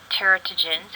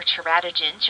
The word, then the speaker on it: teratogens: These include low socioeconomic status, no prenatal care, exposure to teratogens or teratogens, you'll hear that pronounced both ways.